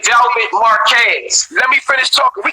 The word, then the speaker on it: Marquez: You're not saying her name right. Say her name right, and that's how I know you're going to love her. That's it's Marquez.